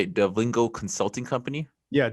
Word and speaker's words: DevIngo: And Mike he's the owner of, how do you say it, Devingo Consulting Company? Yeah, Devingo Consulting Company.